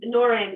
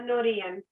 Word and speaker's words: Norén: A lot of people say Norin in English. So, but it is. My full name is Norén.